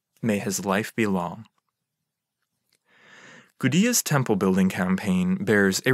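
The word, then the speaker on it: Gudea: lagash a ruler named gudiya spelled with a d even though his name sounds quite similar to the people who had taken over a cat gudia ruled in lagash and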